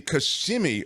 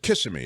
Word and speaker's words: Kissimmee: This is the Kissimmee, or is it Kissimmee, isn't it? Is that how they say it in Florida? Yeah. Kissimmee.